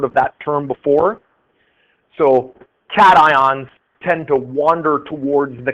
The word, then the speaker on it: cation: That's pronounced cation, and the cat part of cation comes from the name of one of the electrodes. One of the electrodes in a device like that is called a cathode.